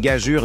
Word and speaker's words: gageure: Comment tu prononces ce mot? Essayer de ne pas rire pendant une réunion sérieuse, c'est une gageure digne des plus grands défis comiques.